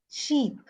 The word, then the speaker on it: sheep: Sheep, not ship. Sheep. Yeah, sheep. I said sheep. Yeah. Sheep, Deepak. The pronunciation is sheep. Otherwise, it sounds like ship.